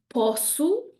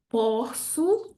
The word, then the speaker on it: posso: Next one, posso, posso. Again, a great example of an open O, followed by an U at the end of a word.